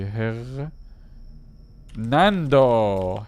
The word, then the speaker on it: Hernando: e r n a d oh I see her Nando Hernando my bad guys brain AFK I'll check